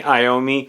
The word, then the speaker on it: Iommi: Yeah, I mispronounced his name in the video I did recently. So it's Tony Iommi, and this is a